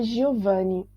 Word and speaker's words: Giovanni: Além disso, ontem falei com Giovanni também. Lembre-se que Giovanni a gente não pronuncia Giovanni, porque G-I-O em italiano, G-I-O, a gente pronuncia Gio, como se fosse um D-J-O em português, tá?